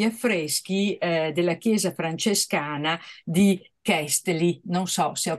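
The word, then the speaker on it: Keszthely: Si chiama Kestei.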